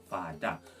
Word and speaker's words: fada: So father would be pronounced fada. Instead of spelling F-A-T-H-E-R, it would be spelled F-A-D-A or F-A-D-D-A.